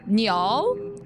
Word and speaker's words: Niall: Niall?